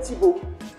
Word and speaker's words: Thibaut: Je m'appelle Thibaut. Devrais-je dire, on m'a appelé Thibaut. Cela s'écrit.